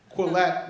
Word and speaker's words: Quillette: And Jonathan, I've gotten to know through being an editor at Quillette magazine, which is this unbelievably important journal that was formed in, what, 2013?